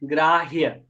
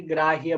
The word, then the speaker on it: ग्राह्य: ये जो है ना, ये आधा ह है और पूरा य है, ग्राह्य, इसलिए इसे ग्राह्य बोला जाएगा।